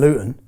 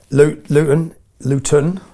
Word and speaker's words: Luton: Luton, we don't pronounce our T's in Luton, but Luton is 30 miles north of London.